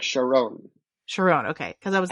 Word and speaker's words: Charon: I'm picturing Charon, but I don't remember how they pronounce it. You nailed it. I think it's like Sharon.